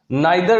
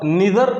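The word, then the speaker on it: neither: आइदर डॉट डॉट और, नाइदर डॉट डॉट नॉर, इधर और निदर नॉर, दोनों भी कह सकते हैं। नॉर्थ अमेरिकन और ब्रिटिश की जो प्रोनाउंसिएशन है उसमें।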